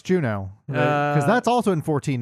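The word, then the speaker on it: Jeuno: And I listened to a 40minute video where the guy called it Jino the whole time. No, it's Juno cuz that's also in 14 now and they pronounce it Juno.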